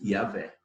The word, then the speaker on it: Yahvé: Agora, esse final não sabe se é Yahvé. Vé. Né? Então, se pronuncia geralmente Yahvé.